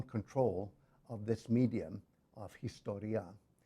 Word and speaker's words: historiē: of this medium of Historiā, or as he pronounced it, Historiē, which is derived from